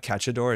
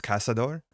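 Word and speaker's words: Caçador: been saying incorrectly like it's not catador it's casador so it's Charlotte casador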